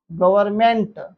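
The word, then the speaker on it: government: N silent हो जाता है। जैसे लिखिए कॉलम सॉलम गवर्नमेंट गवर्नमेंट में एम के पहले एन आता है।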